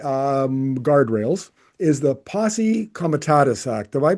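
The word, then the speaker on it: Posse Comitatus: So the one of the um guard rails is the Posi Kamatus Act. Have I pronounced that correctly?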